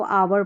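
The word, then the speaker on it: hour: शुरू हो रही है, यहाँ पर H जो शुरू में आ रहा है ये साइलेंट है, हमको H का उच्चारण नहीं करना है।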